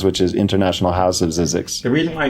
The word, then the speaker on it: Zzyzx: And it turned out it actually is pronounced Zizix, the road is, but I've been saying Zizix for so long.